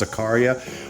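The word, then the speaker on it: Zaccaria: and those are the zachary tables also sometimes pronounced zakaria whatever you want to pronounce it like i'm always going to refer to it as zachary those tables run off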